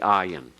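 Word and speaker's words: ayin: how you transliterate the ayan it is silent it is silent the next letter pay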